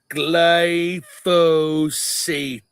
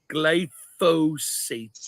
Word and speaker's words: glyphosate: Roundup the go ahead Mark say it proper pronunciation glyphosate okay the gly gly soate no gate glyphosate s okay um is there are several studies